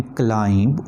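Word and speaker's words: climb: Silent B, the lamp can क्लाइंब over the hills. Lamp और क्लाइंब में B silent है, लिखा जा रहा है, पढ़ा नहीं जा रहा.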